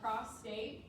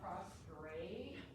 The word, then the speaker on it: prostate: Digital rectal exam is palpation of the prostate. It's called a prostate. It's not called a prostrate.